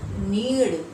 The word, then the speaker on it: नीड़: और यहाँ पर देखिए र नहीं है, ड़ है, तो इसका उच्चारण क्या होगा? नीड़।